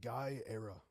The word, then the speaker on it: Guyera: It's uh Guy Era. Guy era. Guyera. Yeah, it's Italian.